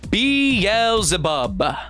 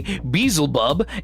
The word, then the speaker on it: Beelzebub: Beelzebub, aka Beelzebub, aka Beelzebul. The name has so many pronunciations.